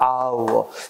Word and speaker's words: hour: 이번에는 명사 중에 시간의 명사가 hour, 정직하니 뭐지? honest, 상속이니 뭐지? air. 그제? 또, 상이나 명예가 뭐야? honor. 그제? 이 단어들은 형태는 또 뭐야? 자음이지. 근데 발음상 H 발음이 안 되지 않나? 이건 묵음이라 그러지.